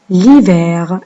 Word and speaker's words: l'hiver: La deuxième saison, c'est l'hiver. Et le H qu'on n'entend pas.